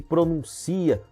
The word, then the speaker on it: pronuncia: Então, olha, por exemplo, a palavra trânsito e transito, do verbo transitar, secretária e secretaria, contém e contem, pronúncia e pronuncia.